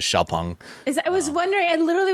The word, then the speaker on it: Xpeng: The proper pronunciation is Xpeng.